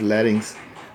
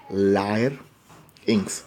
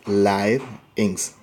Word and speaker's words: larynx: of the larynx so many times we are pronouncing this as larynx but actually we should pronounce this larynx as lyre ynx where it is live inks again and this larynx is also known as